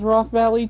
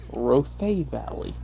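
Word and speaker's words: Rothé Valley: Roth Valley I thought it was Roth Valley too until they told me Ro Valley a ro is that okay so Ro Valley wow that's I was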